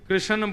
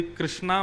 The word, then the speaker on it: कृष्ण: लाल की जय बंधुओं कई लोग इस नाम को अशुद्ध बोलते हैं कई लोग कृष्ण बोलते हैं, कई लोग कृष्ण बोलते हैं। कोई कृष्णा बोलता है। भगवान का नाम शुद्ध उच्चारण करो। नाम क्या है? कृष्ण।